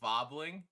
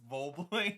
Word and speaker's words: Vobling: uh my one moderator goes, "It's hard, but still can't pronounce his name right because you'll call him Vobbling, and his name's Vobling."